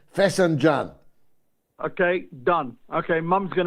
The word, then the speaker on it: Fesenjan: It's Fesenjan, I call it, but my pronunciation is Scottish working class pronunciation. Fesenjan.